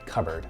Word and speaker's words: cupboard: cups, and hence the name cupboard, but we pronounce it cupboard.